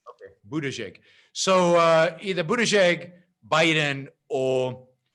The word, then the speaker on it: Buttigieg: How do you say it? Buttigieg. The first G is a soft G. Okay, Buttigieg.